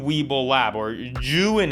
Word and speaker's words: Zhiyun: another look at the zhiyun weeble lab or joon is actually how it's pronounced properly june weeble lab after shooting